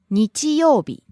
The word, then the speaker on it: 日曜日: 金曜日金曜日 Rising on the second syllable, falling on the second to last syllable, u.